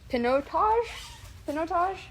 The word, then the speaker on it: Pinotage: So it's a combination of Shiraz, Cabernet Sauvignon, Pinotage?